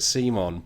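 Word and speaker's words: CMON: come on pronounce it C Mon but they used to be called cool mini or not which has like a hard C yeah stuff like that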